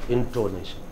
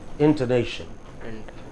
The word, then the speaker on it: intonation: Not intonation, intonation.